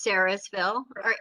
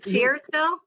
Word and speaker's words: Searsville: Where is Sarasville? Are you saying Searsville? Maybe I'm pronouncing it wrong because I'm from Okay, it's Massachusetts. Searsville. That's okay. It's my accent.